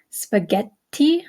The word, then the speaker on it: spaghetti: away don't worry okay the double conents uh such as CC d d TT Etc are held for an extra syllable okay so um when you see that double consonant okay such as in spaghetti spaghetti okay you hear how the extra te is is held a little bit longer uh or in words